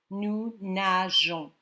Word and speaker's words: nageons: You want to keep it that soft G sound. Nous nageons. So the E goes in the middle of the G and the O.